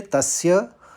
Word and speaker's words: तस्य: यहां पर देखिए तस्य स का दो बार उच्चारण करना है और य के ऊपर आघात है तो प का आघात